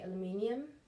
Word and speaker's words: aluminium: shade and you have aluminum aluminum I think the American Way of saying it I would say aluminium so anyways but it's